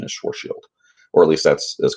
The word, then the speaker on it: Schwarzschild: the correct pronunciation is Schwartz field or at least that's as close as my English accent allows cuz it's a German name but the Schwarzschild radius